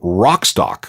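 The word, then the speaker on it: Wrockstock: Festival which they call rockstock which is spelled with a silent w at the beginning oh and speaking of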